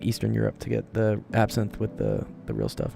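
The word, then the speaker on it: absinthe: It is pronounced absin.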